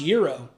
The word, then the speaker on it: gyro: I know it's pronounced euro, but I'm from Pennsylvania and we say gyro.